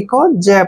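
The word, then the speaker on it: cage: ए जी ई सी का उच्चारण क करेंगे जब सी के बाद ए आता है तो सी को क पढ़ते ए को ए की मात्रा पढ़ते हैं जी ई को ज पढ़ेंगे केज केज मींस होता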